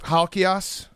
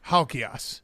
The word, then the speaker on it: Halkias: Actually, that's how it the ass is a real Greek pronunciation. Most people butcher it. You nailed it. Okay. Yeah. Stavros Halchios.